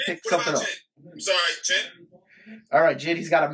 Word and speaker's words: Jin: The first one we'll get into, his name is Jin. So, you know, it's like the alcoholic drink. That's how you pronounce it, Jin.